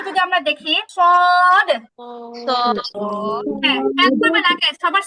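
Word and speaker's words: ص: জিহ্বার আগা নিচের দুই দাঁতের পিছনে, জিহ্বার আগা নিচের দুই দাঁতের পেছনে, সদ। হ্যাঁ, উচ্চারণটা মোটা হবে, সদের উচ্চারণটা মোটা হয়, সদ, সদ, সদ।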